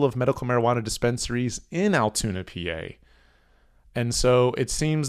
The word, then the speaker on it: Altoona: of altoona pennsylvania and that is altoona spelled with two o's not with a u like your brain is probably assuming it would be spelled like it's all tuna like the fish there's altoona a little